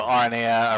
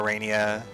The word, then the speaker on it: Aranea: There are a dozen ways to say my name also because it's Latin, right? So you could go Arena, Arania, Arania. I've heard it pronounced all those ways and they're all fine.